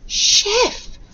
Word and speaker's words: chef: Okay, have a read of our second word, remembering to pronounce the CH letters as sh. Okay, sh, e, f, chef.